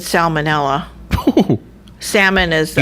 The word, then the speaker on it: salmonella: No, that's if it's salmonella. Salmon is the L silent. Yeah. Salmonella, you got to pronounce the L.